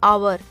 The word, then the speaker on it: hour: Jatin will come in the park after an hour. H is silent, so we are seeing this word.